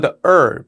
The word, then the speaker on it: herb: 허브 the herb 이렇게 발음을 하는 거라고 보시면 되고 사운드 그대로 들렸습니다.